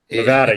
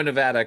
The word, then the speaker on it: Nevada: Nevada, Nevada. You got it. Why is a team in Reno, Nevada called the Aces?